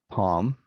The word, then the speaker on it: palm: walk and talk uh then we have folk and half wood could shoot chalk palm salmon and calm no kane no salmon no palm with a silent l some common spellings in